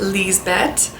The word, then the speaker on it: Lisbeth: mom in the story Lisbeth is a German diminutive of Elizabeth and can also be pronounced Lee's bet I think Elizabeth is